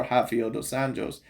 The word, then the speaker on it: Rafael dos Anjos: But like I said, when I seen his fights against Bobby Green and Rafael dos Anjos, or Rafael dos Anjos, of course, because he's Brazilian, pronounced that way.